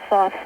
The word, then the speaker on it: Thoth: Is that the source of this information, of Thoth's teachings? No. By the way, he calls himself, he pronounces it Thoth.